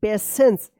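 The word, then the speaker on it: patience: पेशेंस देखिए यहां पे पी ए टी आई ई एन सी ई पेशेंस टी आई का यहां पे ये पेशेंस से उच्चारण हो रहा है ना श पेशेंस and kindness make अ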